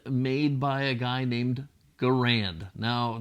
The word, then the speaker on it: Garand: by a guy named Garand now there's a lot of argument about this pronunciation I'm calling it Grand if you don't like